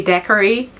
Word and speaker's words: daiquiri: know so apparently in in english you say daiquiri i don't know where that is coming from why would one pronounce it decorate anyway so this is the